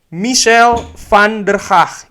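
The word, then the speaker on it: Mitchell van der Gaag: Fabrizio Romano mengatakan kalau Michel van der Haag, ini cara bicara bahasa Belandanya, pronunciation-nya kurang lebih begitu ya.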